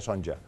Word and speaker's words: Sonja: lo buscas en internet es sonja con j son sonja aunque se pronuncia sonja Pues nada que me